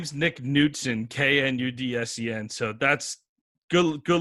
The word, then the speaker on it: Knudsen: all well uh yeah my name is nick newton k-n-u-d-s-e-n so that's good good luck going through